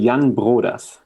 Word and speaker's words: Jan Broders: your name yeah so in german we would say jan brodas okay so it's like it's somewhere in the back of the throat okay cool and as